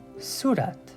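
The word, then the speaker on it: صورت: Sue and rat so this is again a two- syllable word but whenever we're pronouncing it you can goat suat and then if I want to sound fluent Surat Surat Surat which means face so take a look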